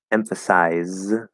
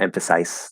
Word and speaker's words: emphasize: us s bus s emphasize well that's even spelled with a z and that's that's uh yeah no that's not an s sound that's a z sound it's not emphasize that's that that would be not a correct way to pronounce it um